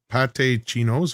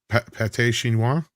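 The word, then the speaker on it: pâté chinois: Anyway, Paul's script, not to get political, but ketchup or no ketchup on your pate chinos. How do you say that? Chinois. Pate chinois.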